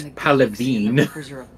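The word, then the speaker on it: Palaven: Actually, it's Palavine.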